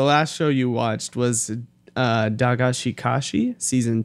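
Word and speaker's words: Dagashi Kashi: So, Rolando, the last show you watched was Dagashikashi Season 2?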